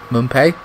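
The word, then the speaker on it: Mwepu: I'm not too sure if Moy left, and Mumpe, that's how you say his name.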